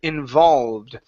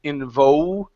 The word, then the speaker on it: involved: go to the word involved your ed and English was just fine let's get a good L sound here instead of in vivo involved in vol involved give me an L involved there you go